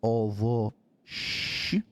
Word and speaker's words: овощи: But the B in Russian is pronounced as the V, so it's ovosh, right? We got it's like kind of a SH, but with a CH in there. It's like a sh, ovosh.